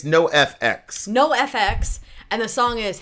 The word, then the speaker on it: NOFX: NOFX, or how do you pronounce this? It's NOFX.